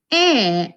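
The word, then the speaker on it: へ: Gakkou e. Ini dibacanya tapi ditulisnya he.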